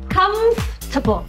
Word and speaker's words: comfortable: Rồi, cái từ này mình không đọc giống như kiểu comfort nha, không phải comfort mà là comfortable.